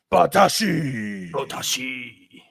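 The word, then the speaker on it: 棒倒し: The name of the sport is Botaoshi, and it is a Botaoshi. You got to say it like that. Botaoshi.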